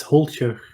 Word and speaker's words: Holtjer: pronounce your last name it's holster and in dutch i would not not know how to pronounce it in english i know it's fine you know i don't want to torture it because it's it looks like it's hold here right yes yes okay so